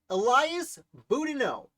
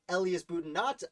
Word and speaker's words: Boudinot: Elias Boudinot, whose name I believe I am pronouncing correctly. I don't think it's Elias Boudinot. I believe it's Elias Boudinot. If I am mispronouncing it, have at me in the comments.